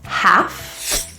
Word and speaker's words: half: exceptions are there are a couple words that include a silent l so a word like a l half and calf those L's are silent the A's are a